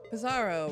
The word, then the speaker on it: Pizarro: Pizarro rhymes with Bizarro.